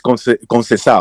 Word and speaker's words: Conceição: Because I'm pronouncing it, like, by the letter, right? Yeah, like, every fucking... But it's Conceição.